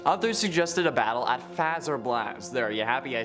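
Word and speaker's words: Fazer Blast: at bonnie bowl others suggested a battle at faz or blast there are you happy i said it right for once but i like seeing phaser okay so leave me alone which does kind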